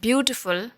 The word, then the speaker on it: beautiful: Again, in the next word, beautiful, we are stressing on the syllable bew. Okay? And t, full are not stressed.